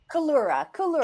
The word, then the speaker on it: Collura: Collura. Collura. Am I pronouncing your name correctly? Collura.